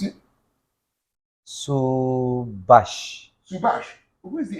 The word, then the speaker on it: Subhas: called subass subass it could be subass Sabas to be subash he needs an H on the end okay why I call